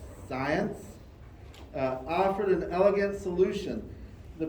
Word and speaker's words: Zajonc: So, science, I guess I say science, it rhymes with science.